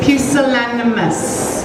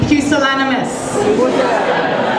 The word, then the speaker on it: pusillanimous: that came to mind pusillanimous I'd like you to say it with me pusillanimous it's a wonderful beautiful word it has four syllables and it sounds gorgeous